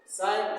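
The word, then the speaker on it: sign: एस आई जी एन इसमें जी का उच्चारण नहीं करना है साइन साइन मीस चिह साइन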